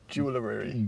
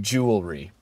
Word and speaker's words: jewelry: spec on the website you're adding another syllable to jewelry jewelry where where you said can you say Jewel Jewel can you say baker Baker Bakery Jewelery jewelry jewelry all right so